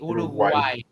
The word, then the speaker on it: Uruguay: No, it's a full G. Uruguay.